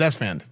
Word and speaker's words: Esfand: It's Esfand.